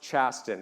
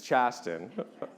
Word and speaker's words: Chasten: named after pronunciation is different though right so pronounced chasten everybody for the record it's chasten was a fun one growing up with um